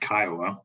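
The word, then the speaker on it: CCIOA: common interest ownership act which is pronounced Kiowa sometimes We Gather analyze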